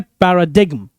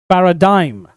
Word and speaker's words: paradigm: तो PARADIGM, लोग इसको रॉन्ग प्रोनाउंस करते हैं पैराडिग्म, बट इसका करेक्ट प्रोनाउंसिएशन होता है पैराडाइम। पैराडिग्म नहीं, पैराडाइम।